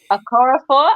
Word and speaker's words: Okorafor: Okorafor. Am I saying it correctly? I can never say Okorafor. It sounds good to me.